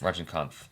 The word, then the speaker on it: Rajinikanth: for this trailer is Rajinikanth. Did I say his name correctly? Rajinikanth. Yes. Rajinikanth. There's an N in there I was missing.